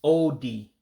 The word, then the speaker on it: ụdị: All right, so shapes would be, as I mentioned earlier, Oh-Dee, just 2 syllables, Oh-Dee for shapes.